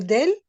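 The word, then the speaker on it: دال: lettre d' on dit c'est le del c'est comme le D en français et ici c'est la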